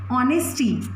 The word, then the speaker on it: honesty: For example, we have honesty. H is silent over here, that is honesty, not honesty, that is honesty.